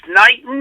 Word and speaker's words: Knighton: It's Knighton. Am I pronouncing that right? Yep. Tammy Knighton.